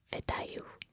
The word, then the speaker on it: вітаю: And another way to say hello is Вітаю. Вітаю. That's with a V, starting with a V.